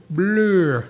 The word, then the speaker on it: Bleu: it's French. Montage is French, and Montage Blue. Bleu. It could be blue, but yeah, French.